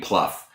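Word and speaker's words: Plough: his toasts um manager Jane Pluff but it's spelled plow uh she's got you know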